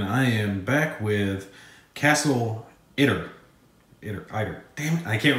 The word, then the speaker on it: Itter: me and it was let me know I was pronouncing it wrong but we're gonna go with inner because I was saying either before and I know I was wrong so yeah has to be castle inner alright where we if